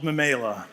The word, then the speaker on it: Memaila: And it's called, you might be asking, how do you pronounce it? It's called Mamela.